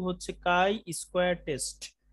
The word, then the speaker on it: chi: আমাদের চ্যাপ্টার 2 হচ্ছে কাই square test C এইচ আই উচ্চারণটা হবে কাই কাই স্কয়ার টেস্ট তো